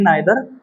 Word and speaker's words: neither: बस लोग बोलते हैं नाइदर आइदर, बट अमेरिकन बोलते हैं नीदर और ईदर। ठीक है, ये करेक्ट प्रोनाउंसिएशन है इसका।